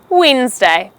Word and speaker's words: Wednesday: It's just two syllables, wens and day. So you could say, what are you doing this Wednesday? Wednesday.